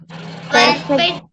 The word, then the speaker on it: perfect: Perfect. Can you say it again? Perfect, sir. Perfect. Okay, again, per is soft. Perfect. Perfect. So the syllable stress is on the second one.